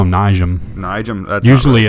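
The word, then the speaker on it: Nijem: I think they call him Nijam. Nijam. That's usually it's silent, but that's not right. Yeah, it's Niem.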